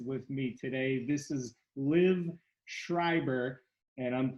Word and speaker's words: Liv Schreiber: very special guest with me today this is liv schreiber and i'm pronouncing it correctly i think rightly you are